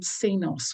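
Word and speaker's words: Csinos: that's really important the other one is david cenos which is spelt c s i n o s who's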